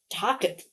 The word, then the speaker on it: tacit: Is that how you pronounce it? Tacit. Like facet. What is that word? Okay. Tacit. Apparently. Tacit. Tacit. Okay. Talk Oh my God, why are there three pronunciations? This is confusing. So we've got tacit, which is what I thought like facet, and then Taket, which almost sounds like German.